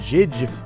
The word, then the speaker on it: Jydge: little indie game called judge they call it judge but i'm calling it jij because that's how it's spelled anyways we have electrocuted